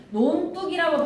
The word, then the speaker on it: 논둑: 논북이라고 하면 발음이 논둑이야 논뚝이야? 발음해봐봐. 논둑이야 논뚝이야? 논뚝이야. 그러면 이거 된소리 대기에서 어디에 해당하는 거야?